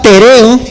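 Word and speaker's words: τηρέω: la palabra guardar es la palabra pereo con acento en la segunda e Teo Y aunque el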